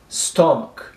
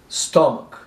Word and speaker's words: stomach: Stomach. Stomach. Não é stomach, é stomach. Ok, pessoal?